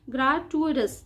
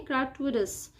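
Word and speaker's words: gratuitous: आगे ये वर्ड का जो प्रोनाउंसिएशन है ना, ये थोड़ा सा ट्रिकी है, मैं आपको थोड़ा सा तोड़ के इसका प्रोनाउंसिएशन बता रही हूँ। ग्राटुइटस, ठीक है, ग्राटुइटस मतलब बेवजह, फालतू में ही।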